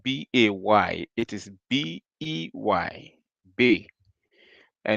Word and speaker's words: Bey: And when you say it is not B-A-Y, it is B-E-Y.